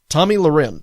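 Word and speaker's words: Tomi Lahren: i really don't care for has suspended Tommy Tommy Lauren okay that's how you pronounce her name Tommy Lee Ren from the blaze for a minimum of a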